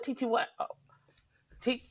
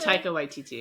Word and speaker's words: Taika Waititi: And for that reason, I'm really hesitant, even with Tiki Waititi, is that how you say it? Taika Waititi.